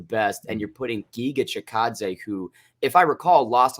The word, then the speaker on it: Chikadze: It's headlined by, I can never say his name correctly, Chikates versus Barboza. Chikadze. Chikadze. Wait, how did you butcher that? It's so phonetically there.